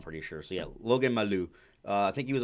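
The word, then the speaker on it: Mailloux: All right, you're gonna have to help me with the pronunciations. Logan Mala. Oh, Logan Maloo.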